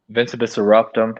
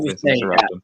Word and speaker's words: Vincebus Eruptum: I mean, it's Vincebus Eruptum. I know some people don't know how to say it correctly, but I think that's the way you say it. Vincebus Eruptum.